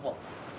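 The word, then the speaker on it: Wolfe: It's Wolf, with an E. Pfft, no way. Can I call you Wolfie? Absolutely not. The E is silent, by the way.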